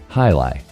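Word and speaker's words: Hialeah: How did you pronounce that? Hili. High. Yep. Oh, you kind of rolled it. I say hi. Ali. No, it's hili.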